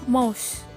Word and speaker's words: mouse: nah selanjutnya adalah mouse tulisannya mosu dibacanya mouse nah mouse ini digunakan